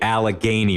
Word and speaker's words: Allegheny: for you ready the Monongahela River and the Allegheny River come together in a marriage right there